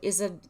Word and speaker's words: Izzard: MJ said, Izzard rhymes with lizard, you know, caution, toxic.